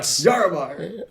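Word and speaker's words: Llarimar: Okay, I wasn't sure how it was pronounced because half of my brain was like, is this Spanish? 2 L's is a Y. But Yaramar. Yaramar.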